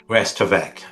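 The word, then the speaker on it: restavèk: She is, you pronounce it as Restavik, right? Restavek, which Restavik. means staying with, Uh-huh. but from the French word reste, Okay. avec. Rest means stay, Okay. avec is with.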